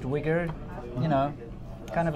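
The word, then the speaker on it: Uyghur: isn't that's correct okay it's a bit of a weird spelling there but it's pronounced wigger you know kind of like a white guy with dreadlocks yeah anyway right it's pronounced wigger and if you search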